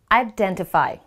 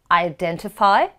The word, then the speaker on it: identify: then t five however Americans they usually do not pronounce the letter T how would you pronounce the word then it becomes I Denny F so it's identify versus identify we need your identification